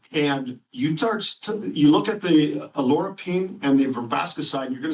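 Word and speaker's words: oleuropein: And although it's pronounced different ways, if you hear it, olorapine is how we're pronouncing it.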